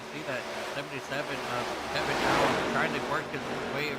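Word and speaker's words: Aleon: No, he goes by Allen. Allen, interesting. Yep, but it's spelled A-L-E-O-N. go ahead and pull that spelling up here for you on screen. So it's A-L-E-O-N, so you can see what I'm saying. I know you can't see what I'm saying here, Dakota, but it's pronounced Allen.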